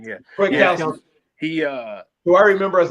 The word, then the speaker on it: Kwiatkowski: Kwiatkowski.